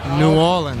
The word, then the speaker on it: New Orleans: New Orleans? Say it right. New Orleans. New Orleans. Yeah, that's correct. New Orleans.